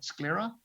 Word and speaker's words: sclera: And then you also have some options with the sclera. I think I'm pronouncing that right.